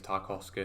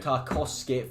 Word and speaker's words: Tarkowski: You say it wrong. It's Tarkowski. Tarkowski, former Oldham player.